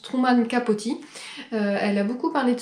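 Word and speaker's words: Truman Capote: ce livre où d'ailleurs apparemment ça se prononce Truman capoti elle a beaucoup parlé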